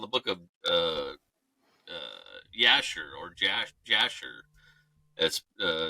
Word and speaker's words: Jasher: or jasher that's uh it's spelled now j-a-s-h-e-r but there wasn't a J in the English language until about the 14 or 1500 so it wasn't it was you're probably the book of yasher back in the day